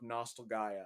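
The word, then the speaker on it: Nostalgaia: the last hero of nostalgaya okay but it's both like Nostalgia nope it's not there's an extra a it's nostal g-a-i-a Gaia because it's supposed to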